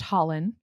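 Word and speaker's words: Hollin: And then we have Dorian Havilyard's brother is pronounced Holland.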